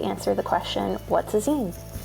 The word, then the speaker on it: zine: Today we are going to answer the question, what's a zine? Zine, pronounced like magazine, are DIY self-published magazines.